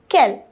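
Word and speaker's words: quelles: interrogative adjective and Kell they're all pronounced the same they all have the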